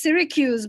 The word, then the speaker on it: Syracuse: the invitation um and the pronunciation is syracuse but most people get it wrong so don't worry even i got it wrong when i first came here so it's syracuse versus syracuse i was not able